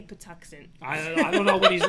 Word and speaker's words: Patuxent: all right and kenny yes pronounced patuxent okay i did say patuxent i don't know what